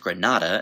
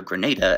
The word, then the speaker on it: Grenada: and no it is not pronounced Granada as in the Spanish City but rather Grenada as in grenade this island country known